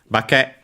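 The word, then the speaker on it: 化け: Bake, luckily, by the way, accented on the last syllable as per the rule, and so transforming oneself, taking on another form, disguising oneself on its own.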